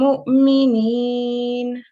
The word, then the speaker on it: مؤمنين: In order to give it the correct pronunciation, which is a nasal meme sound, you have to give it 2 seconds. So, do you want to try that? Hum mu'minin.